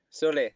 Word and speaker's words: Solé: Alors, est-ce que tu peux me dire si on dit Sol ou Solé? Solé. Solé.